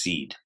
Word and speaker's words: cede: This is an English base that we name by spelling it CDE, C-E-D-E. It's pronounced seed.